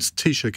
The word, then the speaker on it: Taoiseach: And Taoiseach is spelled T-A-O-I-S-E-A-C-H.